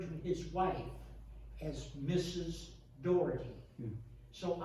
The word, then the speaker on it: Daugherty: weston woods on james doherty and he referred to his wife as mrs dougherty so i've learned to pronounce it as if it were an old door um i would like